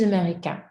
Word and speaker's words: américain: So if it's masculine, you'd say, je suis américain. Américain. We don't pronounce that ending, right?